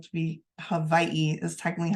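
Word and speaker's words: Hawaiʻi: moving on to Hawaii well spelled to be Havi is technically how you're supposed to pronounce it um it's also referred to as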